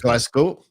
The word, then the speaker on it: Glasgow: from Northern Ireland to Glasgow Scotland let go uh glas Glasgow Glasgow glasgo it's a z almost thank you all right